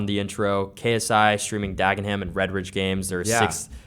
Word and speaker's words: Dagenham: And you got eaten alive in the comments which is telling you to pronounce it right. And it's called Dagenham, right?